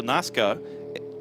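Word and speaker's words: Naska: Well, Alberto Nazca as a multiple race winner in Europe. NASCAR just with a silent R. The Naza. Nazca.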